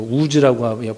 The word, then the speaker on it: 우스: 우즈라고 발음도 하긴 하는데 우리나라 한국말로는 우수로 이렇게 번역이 되었습니다.